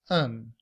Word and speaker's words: an: we reduce that to a schwa and the letter N to pronounce it as un.